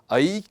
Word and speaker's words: ऐ: इनका उच्चारण ऐ है, औ है। सामान्यतः जो विद्यार्थी हैं वे इसका उच्चारण ए ओ औ करते हैं, परंतु संस्कृत में इसका उच्चारण ए ऐ ओ औ ऐसा उच्चारण हम करते हैं और यही शुद्ध उच्चारण है।